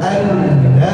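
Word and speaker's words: أنّ: Ingat, di anna itu ada huruf tasdid, jadi tolong ditahan dua ketukan. Asyhadu an la ilaha illallah wa asyhadu anna Muhammadar Rasulullah.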